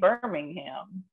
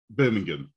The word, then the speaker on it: Birmingham: we pronounce it so birmingham so what we do we just do the first bit and then the last bit is sort of like can't be bothered so birmingham or booming yeah yeah